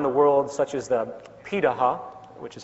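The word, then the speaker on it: Pirahã: We know this today because of anthropological research done on remaining hunter-gatherer societies around the world, such as the Pitaha, which is how it's pronunciated, out of Brazil.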